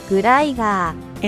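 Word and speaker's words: グライガー: Its Japanese name is the same as its English one. They just say it like this. グライガー And it's sort of like a transliteration of the English word glider.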